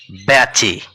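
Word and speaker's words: বেচে: রয়েছে সেখানে আঁকড়ি রয়েছে এই এ কার সমান উচ্চারণ করব বয় জ ফলা আকার তবেই হবে ব্যাচে আবার দ্বিতীয় যে শব্দটিতে আন্ডারলাইন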